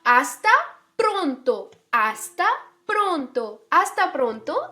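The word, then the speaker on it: hasta: आस्ता प्रोंतो आस्ता प्रोंतो यह हस्ता प्रोंतो नहीं है खोला ओके एच हमेशा साइलेंट होता है आस्ता प्रोंतो आस्ता प्रोंतो आस्ता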